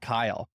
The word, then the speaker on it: Keil: Yeah, my last name is pronounced Keil. So it's Keil, looks like Keil, but it's actually pronounced Keil.